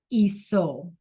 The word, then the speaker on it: hizo: Usted, él, and ella hizo. Hizo, right? The H is silent.